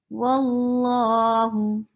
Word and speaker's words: والله: For wow, to pronounce wow, you have to circle your lips. Wallahu. Wow, the Jalala, letter of Allah subhanahu wa ta'ala's name is always heavy.